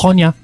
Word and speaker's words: Honya: Honya. That's how it's said. That's how we say it, yeah. Time for a tactical retreat. Honya is how I've always pronounced it.